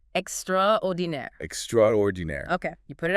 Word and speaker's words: extraordinaire: It's borrowed from French. Pronounced extraordininaire.